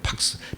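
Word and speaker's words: pax: 팍스. P-A-X 이렇게 표시하고 팍스라고 읽어요.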